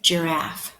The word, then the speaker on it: giraffe: darker to jip jip giraffe hmm Jeff I know letter J says Jeff but I remember our friend Jeff George had the soft G like giraffe we learned that this